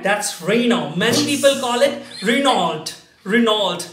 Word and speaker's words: Renault: pronounce it right no oh that's correct that's Renault many Phil Collen Renault Renault no it's simply Rana Rana and because it's the difference many of the